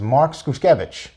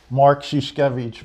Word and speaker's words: Mark Szuszkiewicz: high school so uh our next guest is mark skuskevich did i get that right no nobody does how do you pronounce it mark shishkevich but as the tv name like i said